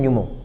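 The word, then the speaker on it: pneumo: जो पी आता है इस पी का मतलब होता है न्यूमो न्यूमो तो पी वर्ड साइलेंट होता है तो न्यूमो का मतलब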